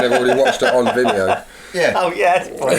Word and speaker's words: Vimeo: Oh, what did I say? Vimo. Spelled the same. No. You do it. You do it. What? Vimeo.